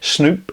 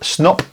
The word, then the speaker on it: Snop: Snoop. Snop. Snoop. Snoop. Snoop. Snop. I don't know how it's pronounced. I'd say Snop because Snoop would be two O's, wouldn't it? So, Snop by Blaze Beach.